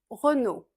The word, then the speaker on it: Renault: Ensuite nous avons Renault. Re re re. C'est difficile à rouler les R si le français n'est pas votre langue maternelle. Essayez comme si vous étiez fâché. Re re no comme no. Renault Renault mais assez plat sans accent français.